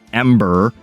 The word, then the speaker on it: M8er: M8er, likely pronounced Ember, a spiritual successor to Firefall.